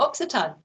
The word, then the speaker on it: Occitan: Where is, I'm so sorry, I don't know how to pronounce this. Is it Occitan or Occitan? Oh, Occitan.